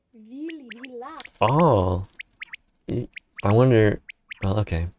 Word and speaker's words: vila: In the ballet, people call the ghosts willies. It's just a really bad pronunciation of the Slavic word vila.